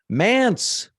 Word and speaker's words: Mance: Mance. You say Yeah. it exactly how it's spelled. That's how you say it.